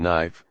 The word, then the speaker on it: knife: For example, K is silent in knife, no, ni.